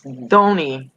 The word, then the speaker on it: Thony: It's Thony. Pronounced with the TH like in the.